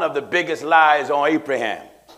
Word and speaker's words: Abraham: You religious scholars told one of the biggest lies on Abraham. Some pronounce his name Ibrahim.